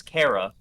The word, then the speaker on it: Chara: The fallen human's canon name is Kara, by the way, Chara, like character.